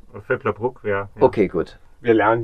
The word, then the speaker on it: Vöcklabruck: Habe ich das richtig ausgesprochen? Völklerbruck, ja.